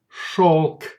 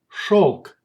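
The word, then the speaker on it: шёлк: If the letter yo follows zh or sh, then it's pronounced like o. Let's see examples. Береза, береза, береза. Лед, лед, лед. Все, все, все. Here example of word with the sound o. Шелк, шелк, шелк.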